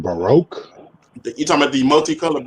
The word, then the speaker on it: Baroque: I think they're pronounced Baroque.